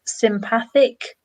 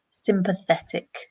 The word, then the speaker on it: sympathetic: So four syllables, sympathetic, sympathetic. Okay. Hmm. Yeah, so just be aware it's not sympathic, sympathetic.